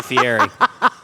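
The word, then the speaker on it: Fieri: He's like you say Fiery.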